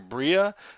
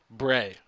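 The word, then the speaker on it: Breah: she's called her name I was calling her Bria it's b-r-e-a-h um that's how it's pronounced apparently the way I spelled it Bray so if I want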